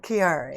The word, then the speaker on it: Chiari: How did you pronounce it? Chiari.